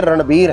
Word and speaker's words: रणबीर: मतलब जी यहां एक चीज और मैं रणबीर और रणवीर लोग दोनों सिमिलर मान लेते हैं। प्रोनाउंसिएशन में फर्क होता है। तो लोग कई बार रणवीर सिंह और रणबीर कपूर दोनों के बारे में बात करते वक्त जो है रणवीर इस्तेमाल करते हैं। जबकि ये रणबीर हैं।